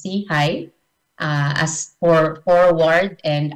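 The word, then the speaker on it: SIHI: innovation in health initiative or we pronounce it as SE High uh as for forward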